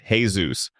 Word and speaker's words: Jesus: Soos Ramirez, full name Jesus, pronounced Hay-zoos, though nobody in the town